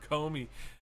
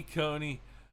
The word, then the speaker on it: Coney: They were grilling his ass today, and everybody was getting her name wrong. They were calling her Comey. It's Amy Coney Barrett.